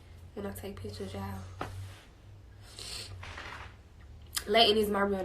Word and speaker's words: Layton: I don't know a lot of Laytons, and they be spelled a little different too. Y'all be saying my name a little wrong too. Y'all be saying Latan and Latoya and all that. It's Layton.